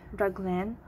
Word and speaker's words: raglan: will be our um reclaim or how to pronounce it right raglan okay here i'll just separate it so this